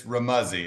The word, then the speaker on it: Remuzzi: It's Remuzzi. It rhymes with Remuzzi.